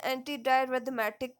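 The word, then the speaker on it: antidysrhythmic: Anxiety या depression को कम करना, pre load and after load को डिक्रीज करना, एंटी डाइस्थेमेटिक ड्रग्स या इसे हम कह सकते हैं एंटी डायरिथमेटिक ड्रग्स, एस साइलेंट हो जाएगा, जिसका काम है डायरिथमियास कंडीशन को प्रिवेंट करना, ट्रीट करना।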